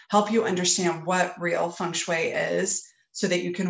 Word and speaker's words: feng shui: It's pronounced feng shui. So if you're ever working with Asian clients and you want to impress them, you would say feng shui. But here, everybody, if you say it the correct way, they kind of look at you funny. So everybody pronounces it feng shui.